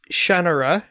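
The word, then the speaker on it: Shannara: is it shanara okay it's supposed to be pronounced shanara shanara apparently and I I acknowledge that that is the official correct pronunciation of it and you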